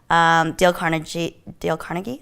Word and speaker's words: Carnegie: Dale Carnegie, is that how you Yep.